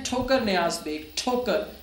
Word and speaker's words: ठोकर: हैं ठोकर नयाज बेग ठोकर ठोकर शुरू कैसे होता है ठ से आप कभी नहीं कहेंगे टोकर यू विल से ठोकर सो दिस ठी इज